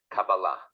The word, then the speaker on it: Kabbalah: I will tell you the traditional Hebrew way of pronouncing the word is Kabbalah.